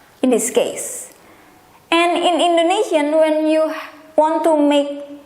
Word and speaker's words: Indonesia: Foreigner will call my country's name Indonesia, but how Indonesian call or pronounce their own country's name, including myself, is this way: Indonesia, Indonesia, Indonesia, Indonesia.